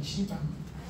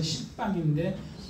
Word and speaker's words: 시방: 그 다음에 요거는 식방이라고 안 하고 시방이라고 합니다. 시방. 사방, 팔방 할 때 팔방의 위아래에서 식방인데 발음을 시방이라고 합니다.